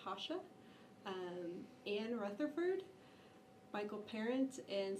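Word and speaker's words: Rocha: Hasha is how you say his last name. It's spelled like Roca, but it's Hasha.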